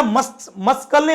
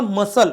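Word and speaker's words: muscle: सोबत आला सी का ला मस्कल म्हण मस्कल मसल काय म्हणतो मसल नॉट मस्कल या पद्धतीने तुमही आयडेंफाय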